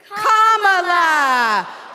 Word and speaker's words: Kamala: First, you say comma like a comma in a sentence. Danny say la like la. Put it together and it's one, two, three, comma laa.